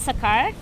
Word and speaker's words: Sekar: we yeah so um my name is sekar if you want to spell it it's se kar it's a bit very